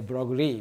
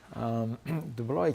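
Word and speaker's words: de Broglie: came to the scene his name was dubloy pronunciation is many many speakers of english say broccoli but dubli dubloy came about and said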